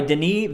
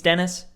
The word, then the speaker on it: Denis: And it's directed by Denis Villeneuve. And I think that's how it's pronounced. I don't think it's Dennis.